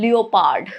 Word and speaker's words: leopard: Imagine pronouncing leopard. Leopard. No, it's leopard, right? You don't say it as leopard, right? Because of the silent letters. It's leopard. O is silent here.